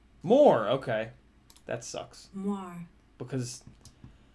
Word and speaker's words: Moir: All right, how do you pronounce Moir? Moir. More, okay.